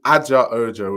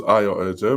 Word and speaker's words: Ayo Ojo: He's called me Aja Ojo, which is just not my name. My name's Ayo Ojo, but that's okay.